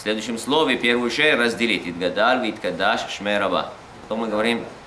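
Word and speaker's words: יתגדל: Гадаль, не иткадаль, итгадаль, а слово гадоль. Очень много людей говорят иткадаль. Иткадаш, потом должна быть пауза, чтобы ше последнюю и ше следующую, в следующем слове первую ше разделить. Итгадаль, иткадаш, шмераба.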